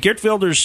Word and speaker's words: Geert Wilders: funny but that is the correct right Dutch pronunciation would be get builders so of course I